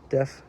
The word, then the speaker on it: deaf: How you say it? Deaf, DEF, deaf.